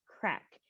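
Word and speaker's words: craic: an irish word and it's spelt c-r-a-i-c and it's pronounced crack and a lot of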